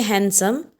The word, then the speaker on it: handsome: When you say handsome, you don't pronounce D.